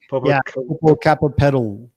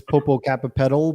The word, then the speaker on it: Popocatépetl: And of course, I can't pronounce that volcano in Mexico, Mount Popo. Popocatépetl. Okay. In English, it's Popocatépetl, but if they hear me say that, they're like saying and that.